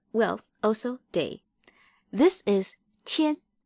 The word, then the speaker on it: 天: What do you think the character on the right, which is pronounced 天, means? What does it mean? Yup, it means sky. Well, also day. This is 天.